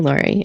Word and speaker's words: Laurie: I uh my name is pronounced and it rhymes with Star. So, I I often joke around with Star. is an easy way to remember it. Star Lori.